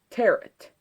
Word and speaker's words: Tarot: what I'm doing and in some other countries they pronounce it like this person does rhyming it with carrot and pronouncing it tarrant I myself am half